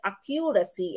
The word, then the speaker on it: accuracy: This, of course, would be accuracy, okay? Don't pronounce this as accuracy, okay? You say accuracy, okay? So, nasa first syllable yung ating pong stress, no? Accuracy, all right?